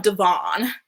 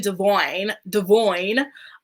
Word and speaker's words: Devoyne: Anyway, speaking of Devon, it's actually Devoyne. And it's just so wild to me that he's suddenly like, pronouncing his name correctly after all these years. We've been used to calling him Devon all this time. Now all of a sudden he's like, oh, Devoyne. And his name has always been Devoyne.